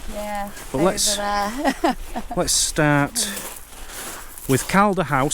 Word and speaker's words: Calda House: But let's start with Calder House. So that's spelled C-A-L-D-A, if anyone wants to look the place up.